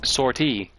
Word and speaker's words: sortie: Your handler didn't authorize this sortie either. But we shouldn't miss this chance. I'll support you. And this is how you pronounce sortie.